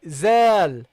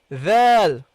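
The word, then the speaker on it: ذال: Okay, so make sure that you put your tongue between your teeth when you pronounce it. So you say zal, not zal, not val.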